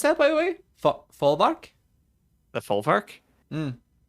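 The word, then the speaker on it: Folwark: Folvark? The Folvark? Mm. I think the W makes a V sound.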